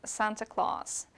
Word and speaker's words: Santa Claus: it with uh presents please note the pronunciation by the way of Santa Claus in English guys there's long a there Santa Claus right Santa Claus usually has